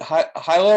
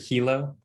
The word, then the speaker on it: Hilo: UH, is it Hilo or Ilo? Like, how is it pronounced? I've heard it Hilo.